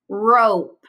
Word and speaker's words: rope: Rope. You'll notice I've highlighted silent E in this word too. It helps the O say its name. O. R. O. Rope.